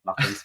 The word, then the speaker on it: Martens: Martin qui va nous parler du coup de Martens motorcycle je prononce bien yes Martens motorcycle Martens motorcycle bah du coup déjà présente-toi